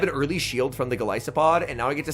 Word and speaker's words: Golisopod: I recently learned that it is pronounced Golisopod, which you guys should make sense. It's a Goliath Isopod.